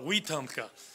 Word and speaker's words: Wetumpka: I bring your greetings from, well, I pronounce it Wetumpka, but the people down in Alabama down there outside of Montgomery call it Wetumpka.